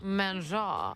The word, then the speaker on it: manger: Manger.